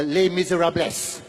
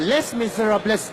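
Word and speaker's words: Les Misérables: many of you know the the musical uh lay misera bless oh I'm sorry I mispronounced sorry Les M Miserables that's a Malaysian St Les Miserables is a a musical where the story of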